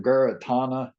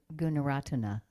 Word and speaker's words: Gunaratana: I forgot how to pronounce the last name, Guratana. Um, some of his books, Meditation on Perception, Oh, and I would really like to I think you probably mean Gunaratana. Guratana, yeah, Auntie Gunaratana.